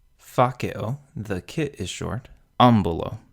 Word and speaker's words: ambulo: Ambulo, because the second to last syllable, b, is short.